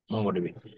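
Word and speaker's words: MongoDB: no scroll নর কোন no scroll উদাহরণ সহজ উচ্চারণ হচ্ছে মঙ্গোটিভি মঙ্গো ডিবি এরপর হচ্ছে object oriented programming object oriented programming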